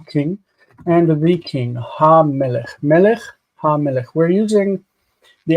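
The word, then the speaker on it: מֶלֶךְ: Melech, ha-melech.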